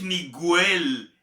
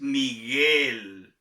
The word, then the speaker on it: Miguel: Recordemos también que la GUE y la GUI se pronuncian GUI. Por ejemplo, mi nombre, Miguel, GUE, no es Miguel, es Miguel.